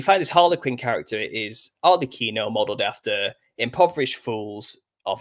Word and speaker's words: Arlecchino: So it's Helikins is where we get Harlequin, but the Italians named him Arlecchino. That's how they pronounce it. So they pronounce Helikins as Arlecchino, and that's where we get it from.